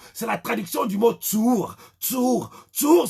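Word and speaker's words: צור: Le mot rocher en hébreu, c'est la traduction du mot Tsour. Tsour s'écrit T-S-U-W-R.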